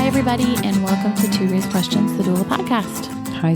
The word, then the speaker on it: Thérèse: But the way you say her name is? ToRAISE. ToRAISE.